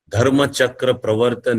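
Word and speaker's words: Dharmachakra Pravartana: speech, which is also famously called Dhammachakra Pavartan. This is the Pali Prakrit pronunciation. The Sanskrit pronunciation will be Dharmachakra Pravartan.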